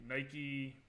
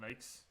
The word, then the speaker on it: Nike: you guys call them Nikes? No, well, it should be Nike because it's like from the Greek goddess Nike, right? So Nike is actually the right pronunciation, but the British I